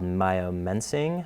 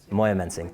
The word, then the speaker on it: Moyamensing: and he I'm going to mess up the pronunciation but in South Philly it was called Mayo mensing I think he was moyamensing thank you very much um and so he